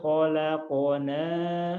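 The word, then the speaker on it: خَلَقْنَا: Karena huruf madnya harus dibuang, diabaikan. Cirinya karena bertemu suku. Asalnya ya, laqad khalaqna. Nah, sekarang berubah, dibacanya pendek karena dibuang alifnya. Laqad khalaqnal insana.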